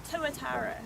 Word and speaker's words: tuatara: How do you pronounce their name? Tuatara.